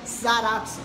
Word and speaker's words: Zaratsu: Então, quando você fala Salas, né, Saras, então fica Sarazu, então fica Zaratsu, então acabou chegando num ponto